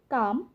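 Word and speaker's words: calm: তেমনিভাবে এম এর আগে এল থাকলে এখানে সঠিক উচ্চারণ হবে কাম, পাম।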